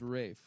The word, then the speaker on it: Ralph: there wasn't an L but it is pronounced Rafe what the [ __